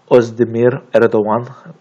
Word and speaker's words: Özdemir Erdoğan: A: Özdemir Erdoğan - Gurbet E: Doğru. Öyle okunuyor aynen.